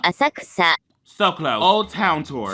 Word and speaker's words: Asakusa: I'm gonna be saying some of these names wrong, and I'm probably gonna put the actual pronunciation over myself, okay? Asakusa. Asakusa.